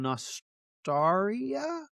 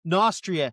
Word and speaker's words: Nostria: Nostraria? Nostria? Tria. Nostria.